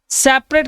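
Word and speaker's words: separate: सेपरेट की spelling में D option सही होता है। सेपारेट मैंने कई बार पढ़ाया भी, सेपा बोलिए सेपा, और रेट बोलिए सेपा रेट, है ना, अलग करने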